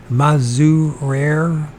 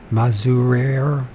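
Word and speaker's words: Mazurier: Maruz Mazurere. I didn't pronounce that. Mazurere, like barrier, Mazurere, buying some big bones from some workmen and hawking up his giant.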